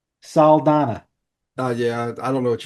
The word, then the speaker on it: Saldaña: I always call her Zoe Salamander. What's that girl's name? Zoe Saldaña. Salmana? Saldana.